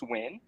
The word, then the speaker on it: Nguyen: Dustin Nguyen, which I think is pronounced Win.